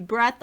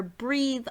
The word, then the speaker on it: Breath: the designer of the breath or breathe RDA it could be pronounced either way I think he pronounced it pronounces it as the breathe RDA I've been pronouncing it as the breath RDA so let's get into